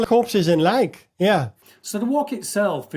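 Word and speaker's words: lijk: You know what Phil you know I'm I'm native Dutch in Dutch corpse is like l i j k and it's pronounced lake right?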